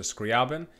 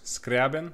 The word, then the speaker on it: Scriabin: my name is Professor scriabin if you can roll your R's scriabin if you cannot roll your R's scriabin or professor Scribd professor